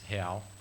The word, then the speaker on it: real: brazilian hal it's part it's spelled r-e-a-l like real but it's hail because it's portuguese so but it's right